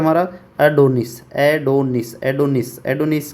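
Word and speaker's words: Adonis: Pronunciation है इसका। एडोनिस एडोनिस।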